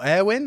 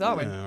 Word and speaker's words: Arwen: Is it Arwen or Airwin? Am I saying it wrong? Yeah, I think you're right. No, I think you got I it. think it's Arwen.